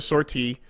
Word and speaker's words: sortie: You have some other weird English pronunciation of sortie? In English, it's sortie. So really? Yeah. Well, guess what? It's a fucking French word, and it's pronounced like this.